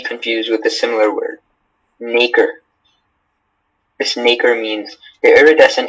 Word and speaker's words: nacre: in a deposit of nacre. Is there any pronunciation? Is there any alternate pronunciations? This is just nacre. Okay. And it's nacre.